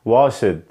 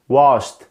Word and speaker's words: washed: وركد وركد وركد وركد، ليرند ليرند ليرند ليرند، واشد واشد واشد واشد. ده كده كان النطق الغلط. طيب ايه هو النطق الصح؟ worked worked worked worked، learned learned learned، washed washed washed.